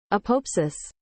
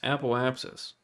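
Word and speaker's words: apoapsis: Google translate apopsis that's not how you say that how to pronounce this apopsis apopsis apopsis this is so entirely wrong it's just sad how do you pronounce the there we go apopsis app O apsis app opus appal apsis appal apsis there we go that's what it is appal apsis yesh we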